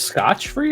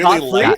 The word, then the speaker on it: scot-free: Is this scotch free or scotch free? Scotch free. That's. I wasn't gonna say anything, but I really Scot-free? like that. Now I'm genuinely Scot-free. curious if I've been saying it wrong my whole life. Wait, It is scot free.